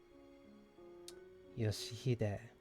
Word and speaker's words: Yoshihide: 아니, 그 글자는 그렇게 읽는 게 아니라 No, that's not how you read those letters. 요시드라고 읽는 거다. Yoshihide. That's how you say it.